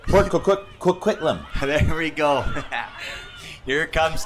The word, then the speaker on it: Coquitlam: Hometown of Port Coquitlam. Let me know if I pronounce that right. Port Coquitlam.